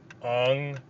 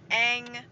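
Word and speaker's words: Aang: things like number one they switched the pronunciation to gain some kind of like faux accuracy which was terrible it was like soca and aung yeah instead of instead of ang and saka and iro i was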